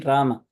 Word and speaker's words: Rama: most common you know Hindi speakers might say Ram but still it is Rama in Sanskrit and then in uh